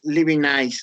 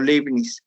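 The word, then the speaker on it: Leibniz: lectores del siglo 17 un contraejemplo es living eyes o living de las dos formas está bien pronunciado living hay solemnis él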